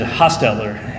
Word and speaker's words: Hostler: in his speech that I pronounced his name one way and he pronounced it a different way and I asked him beforehand I want to make sure I get this right and he said hostler and I was like